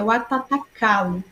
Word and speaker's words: Watatakalu: A pronúncia correta é Watatakalu, né?